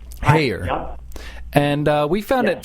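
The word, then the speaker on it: Heyer: Hayer.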